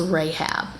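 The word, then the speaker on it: Rachab: h a b so they spell it a little bit differently but it's still pronounced rahab okay so who is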